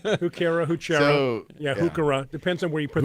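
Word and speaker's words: Heuchera: Yeah, Hookera. Depends on where you put the accent. Right. Yeah. One, when you're pronouncing botanical names, you should remember that CH is always K.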